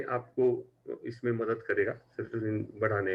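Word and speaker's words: serotonin: सीरोटिन जो depression के लिए सेरोटोनिन। केमिकल है। सीरोटिन नहीं, सेरोटोनिन।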